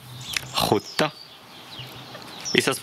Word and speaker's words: skjorta: Donc imaginez qu'on remplace SJ, STJ ou SKJ par R. Huta. Et ensuite, ajoutez ce fameux H devant. Huta. Et vous avez... Bah, la bonne prononciation, ça là. Huta. Oui. Huta. Huta. Et c'est un O court.